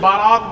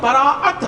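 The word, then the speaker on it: براءت: یہ اس کی تلفظ بھی عرف عام میں غلط لوگ بولتے ہیں, شب بارات بولتے ہیں, تو یہ بارات نہیں ہے, براعت ہے.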